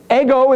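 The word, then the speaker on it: ἐγώ: at the end the back to the beginning ego is how you pronounce it in Greek does that look familiar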